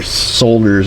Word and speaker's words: solder: under there s wire solders very quickly got us a piece of heat shrink the solder job looks good I just like saying solder with an L us Americans usually don't pronounce the L not sure why we